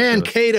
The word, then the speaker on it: Mankato: Am I pronouncing that right? Do you guys say it Mankato like that? Mankato, actually. Mankato.